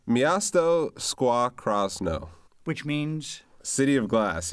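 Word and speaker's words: Miasto Szkła Krosno: And to save me a mispronunciation, what is the name of your team? Yeah, it's Miasto Squaw Krasno.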